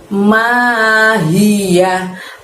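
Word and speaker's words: ماهيه: Lalu setelah itu ada lafadz mahiyah. Ma panjangnya 2, hi-nya dari tenggorokan bagian bawah, yahnya pendek berakhiran hak. Mahiyah.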